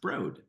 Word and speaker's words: Broad: It's the Broad family, spelled like Broad, but pronounced Broad.